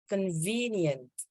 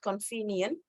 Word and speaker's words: convenient: and this one is convenient remember in English we need to say V clearly so it's not convenient it's convenient convenient ah there is